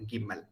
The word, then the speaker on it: Gimel: Then Gimel. So in Hebrew, it is always G. It's never Ja because there is no Ja sound.